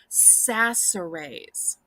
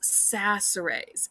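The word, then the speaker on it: Chachere's: say that again um the CH is pronounced as an S sound so it's pronounced sasserays so CH sounds like an S sass arrays and it's an original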